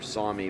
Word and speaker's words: SAME: Some of the other brands, such as Lamborghini or Sami, which is spelled S-A-M-E, same, you have seen in the USA in years past, but like I said, right now, strictly just Deutz Fahr.